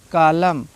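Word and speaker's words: column: रहे एम के बाद एन आया होगा तभी साइलेंट होगा, ठीक है। आटम, इसको आटम्न नहीं पढ़ा जाएगा। कालम, ठीक है।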